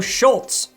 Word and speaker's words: Schultz: As you might have noticed though, Schultz also rhymes with Colts, and that's more evidence than I really need that this deal will happen.